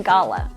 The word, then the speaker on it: gala: And the Hamptons, do they pronounce it gayla or gala? They they say gala. They say gala.